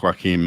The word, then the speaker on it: Joachim: Yeah, you keep on calling him Joaquin, like Joaquin Phoenix. But that's the only thing. When I see the name on the screen, it's spelt the same, and I'm English. In Holland, it's probably pronounced different. It's Joachim. Joachim.